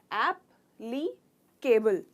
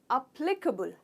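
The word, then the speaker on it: applicable: ऐप हो जाता है अप, प्ली, कबुल। तो केबल नहीं कहते, हम कबुल कहते हैं। क, ह का साउंड आता है इसमें, क। तो अप्लीकेबल, प्ली को स्ट्रेस करते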